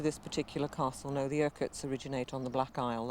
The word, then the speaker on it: Urquhart: Urquhart Castle, I've said it right?